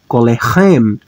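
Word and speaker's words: קולכם: segol e mem e vou pronunciar como colem colem agora Observe que o acento tônico vai cair aqui ó vai cair exatamente no sufixo pronominal único sufixo que não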